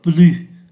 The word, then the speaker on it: plus: và trọng từ thì chúng ta đọc là Blue không phát âm ký từ S Blue không phát âm ký từ s khi so sánh danh từ thì chúng ta có Plus được ký từ S phải phát âm Plus so sánh động từ